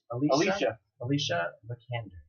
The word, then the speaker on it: Alicia Vikander: You said the co-star, and help me pronounce this. Alicia Vikander.